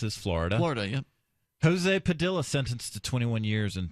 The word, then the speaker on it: Padilla: Jose Padilla is his name, or Padilla, depending on where you're from. Yeah, I said Padilla first, but for a long time.